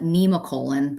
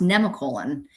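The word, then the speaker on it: Nemacolin: I always called it Nemacolon, but it's in Farmington, Pennsylvania, and apparently it's pronounced Nemicolon.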